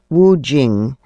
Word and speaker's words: Wu Qing: Wu Jing. In Western transliteration, it's spelled W U Q I N G.